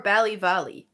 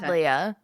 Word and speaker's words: Ballyvalia: Ballyvalia or Ballyvalley? Because you said Valley the first time. You said Ballyvaldia the second time. Ballyvalia. Okay, so my notes are going to